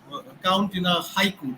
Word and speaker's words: haiku: syllable count in a haiku the word Haiku in English is a two syllable word in Japanese it's a three syllable word okay so so so